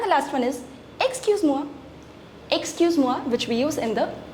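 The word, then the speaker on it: excuse-moi: This is excuse ma excuse mua and this is excuse mua excuse mua excuse mua formal and excuse moa informal right let's just revise it once again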